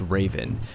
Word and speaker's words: RVN: Jones to launch Operation rvn pronounced Raven which stands for reducing